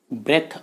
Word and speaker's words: breath: अगला जो वर्ड है फ्रेंड्स वो है ब्रेथ और ब्रीद। जब BREATH की स्पेलिंग में हम एक एक्स्ट्रा ई जोड़ देते हैं तो ये ब्रीद हो जाता है।